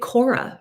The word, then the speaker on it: Khora: This is called 545, and it lives at Cora. That's spelled Khora.